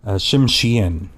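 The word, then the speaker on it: Tsimshian: I am half Shimshen. Shimshien actually is the correct pronunciation of that.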